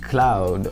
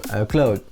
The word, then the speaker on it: Claude: how to pronounce it his name in uh the Netherlands because obviously it's cloud from the French but um he sometimes calls himself cloud like a more Dutch kind of pronunciation so forgive me if I use them interchangeably that's how it works in